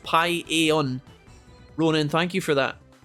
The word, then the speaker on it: paella: It's super well seasoned and delicious, and it's pronounced paella.